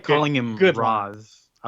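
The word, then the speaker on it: Ra's: So, I do like, the comic does suggest that Raish is the correct way to pronounce his name because Raphael, I think, has a line, who's Racial Ghoul?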